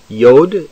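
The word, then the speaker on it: יוד: as to yod yod yod is pronounced like the y in yard with the doge kaff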